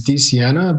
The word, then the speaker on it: DiSiena: Did I say it right? It's DiSiena, but close DiSiena.